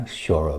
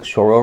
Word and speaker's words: choro: little bit about Brazilian shoro music I'm sure I'm mispronouncing this Portuguese word but I'm going to just call it choro music uh there should probably be more of a sh sound in there but whatever we're just